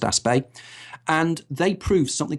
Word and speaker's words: Aspect: a guy called Alain aspect aspect or aspect I things pronounced a spay and they prove something